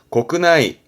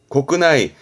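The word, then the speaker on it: 国内: 국내 발음은 고끄나이, 고끄나이.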